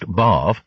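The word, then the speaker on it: Badb: Irish goddess more exactly bav pronounced bav bad baju in VW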